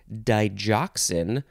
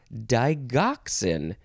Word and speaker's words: digoxin: it is pronounced either digoxin or digoxin you can pronounce the G either way d-i-g-o-x-i-n digoxin noun from Circa